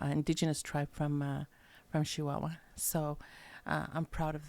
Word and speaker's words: Chihuahua: Northern State of chihuaha Chihuahua a true person from Chihuahua pronounces it with an sh not a CH and uh he was